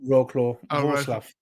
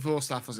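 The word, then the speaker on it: Wrocław: Yeah, it's not roaw. Was it Voraf? Yeah. Okay. Yeah, they pronounce it. It's not Roslav, not Rockclaw. But yeah, chucking chairs and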